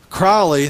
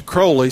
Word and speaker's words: Crowley: he changed his name it used to be crowley they changed it to crowley so that it would rhyme with holy which he was the